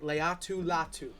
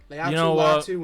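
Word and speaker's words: Laiatu Latu: this is a great name in this draft Leu latu Leu latu and Edge rusher out of UCLA you know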